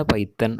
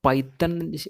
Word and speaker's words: Python: അപ്പോൾ പൈത്തൺ എന്നുള്ളതല്ല ശരിക്കും പൈത്തൺ എന്നുള്ളത്. പൈത്തൺ എന്ന് ശരിക്കും പറയാം പൈത്തോൺ എന്നാണ് അതിൻ്റെ ഉച്ചാരണം, അഥവാ വൊക്കാബുലറി പൈത്തോൺ എന്നാണ്. പൈത്തൺ നമ്മളിങ്ങനെ പറഞ്ഞു പോകുമ്പോൾ പൈത്തൺ ആയി പോവാണ്. പൈത്തോൺ എന്നാണ് ശരിക്കും അതിനെ പറയാം.